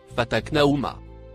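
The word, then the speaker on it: فتقناهما: Le mot écrit en marron que vous voyez se prononce fataknaouma.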